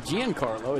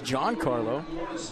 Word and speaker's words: Giancarlo: They said people mispronounced his first name all the time. They called him Giancarlo. It's Giancarlo. And so he just went with Mike.